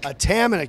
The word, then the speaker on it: Atamanuik: Anthony and Atamanik? Atamanik.